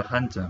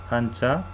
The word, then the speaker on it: 한자: Hanja. En coreano pronunciamos como hanja, ¿sí? No sé cómo los chinos pronuncian, cómo se pronuncian, pero los coreanos pronuncian como hanja y los japoneses pronuncian como kanji, misma palabra, pero cada nación pronuncia diferente.